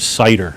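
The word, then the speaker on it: CIDR: and it's and it's an acronym spelled like the word CER c i d r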